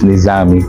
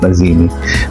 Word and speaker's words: Nizami: Nakco-confuse ako minsan it's either Nizami or Nazimi. Actually it's Nizami. It's not Nazimi.